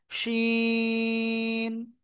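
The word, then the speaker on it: شين: হ্যাঁ, শাসা শব্দ করে 3 আলিফটা নিয়ে উচ্চারণ করব, শিন।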